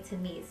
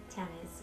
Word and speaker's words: Tamiece: We wanted people to say Tamiece and not Tamiece. Ours is spelled T-A-M-I-E-C-E, and Tamiece is spelled with T-A-M-I-S, so that's what she's saying, Tamiece, and we didn't want that.